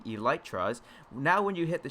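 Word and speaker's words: Elytra: also point out is the electras which is which would be the correct pronunciation for the set of wings that are placed here on my back the e light trust now when you hit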